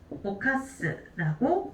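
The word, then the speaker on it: 犯す: 자, 훈독으로 읽어줄 때는 오카스라고 읽어주시면 되겠습니다.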